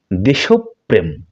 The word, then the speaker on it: দেশপ্রেম: দেশপ্রেম শুদ্ধ উচ্চারণ হচ্ছে দেশপ্রেম দেশ প্রেম অর্থাৎ প বর্ণটি দৃত্ত উচ্চারণ হবে দুইবার উচ্চারণ হবে এটাকে আমরা বলি জিহ্বা